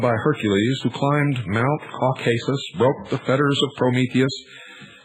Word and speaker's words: Caucasus: For his disobedience, Prometheus, like Lucifer, was chained and placed upon the brow of Mount Caucasus, or as some pronounce it, Caucasus, there to remain with